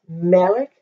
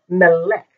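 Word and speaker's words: מֶלֶךְ: the same vowel Marcus it's malik not Melek even though most words have the accent on the end so this is yell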